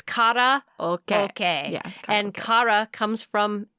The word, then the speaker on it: karaoke: let me tell you a little bit about karaoke first the word is often mispronounced well i think i've been mispronouncing it